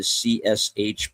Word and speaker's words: CSH: Alpha Company was the medical portion of the CSH pronounced like cash.